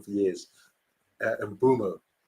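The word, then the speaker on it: Mbeumo: I think I've been pronouncing it wrong for years. And Bumo. Bumo.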